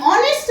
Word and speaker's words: honest: Some children they are saying honest because first letter is H ना, but H is silent.